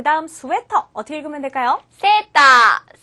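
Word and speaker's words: セーター: セーター。セータ 자, 스웨터는 영어니까 외래어를 표기하는 가타카나로 표기하시면 되겠죠. 자, 주의하실 것은 가운데 장음이 2개 들어있기 때문에 세타 이렇게 발음하셔서는 안 된다는 거.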